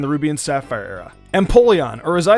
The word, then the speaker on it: Empoleon: Empoleon, or as I said it, Empoleon. Is this one common though? Did anyone pronounce it like this?